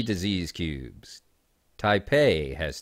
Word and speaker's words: Taipei: Taipei has 3 cubes. I said it right. Some people mispronounce it.